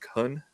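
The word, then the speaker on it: Kuhn: uh I can't pronounce it's k-u-h-n like Khan uh he's an artist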